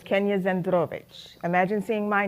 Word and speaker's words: Zandrowicz: I got married but my last name is zovich so it's Kenya zovich imagine seeing my name